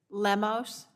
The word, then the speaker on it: Lemos: the honorable catherine a lamos am i pronouncing that correctly lemos okay thank you that's correct um uh chairperson and